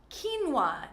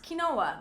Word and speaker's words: quinoa: Quinoa, not quinoa, but quinoa is a really great grain that gives you a lot of protein too.